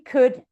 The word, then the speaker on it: could: If you notice, I'm not pronouncing the L in would or in should or in could. Yeah, the L, it's silent. It's there when we write it, but when we say it, we just skip it. We say he could, I should, I would. Yeah. You don't pronounce the L.